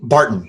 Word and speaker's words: Barton: He Barton. Sorry. Barton, not Burton.